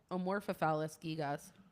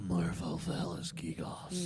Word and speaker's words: Amorphophallus gigas: Amorphophallus gigas. Yeah. Get the whole amorpho in there. I, Say it right. a morpho. Oh, All right. The amorphophallus gigas. The morphophallus gigos.